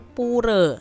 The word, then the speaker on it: pura: poor adik-adik ya atau kalau orang bali tuh bacanya bukan pura tapi puree ya Nah untuk hari